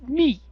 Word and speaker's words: mu: to pronounce that letter is it me or moo and he looked at me and said no it's me at which point I